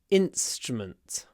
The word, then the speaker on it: instrument: you play a musical instrument stress on the first syllable instrument instrument and because of the S uh which is unvoiced the in gets clipped in p strument and the vowels kind of disappear so let's make them